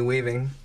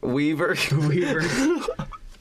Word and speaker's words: Weaver: Sigourney Weaving. Weaver? Weaver.